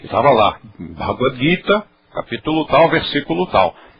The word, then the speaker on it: Gita: que marcou época e ninguém diz o Gita todo mundo diz o guita Então essa pronúncia já está incorporada à nossa cultura apareceu G é sempre Gu guita ah letra a